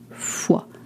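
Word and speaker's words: fois: To say how many times or how often you'll say Fu is spelled fs. Please do not say f. It just, you know, it's you don't uh pronounce the consonants at the end of French words.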